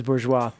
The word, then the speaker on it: Bourgeois: do you say it is it Borgess or do you say bourgeois okay that is bourgeois somebody's okay okay there